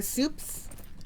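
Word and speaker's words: Supes: Some of my friends, also like my Dota friends, call me Soup or Soups, which I think is funny because it just sounds like soup, like you eat the food soup, but they spell it like S-U-P-E-S.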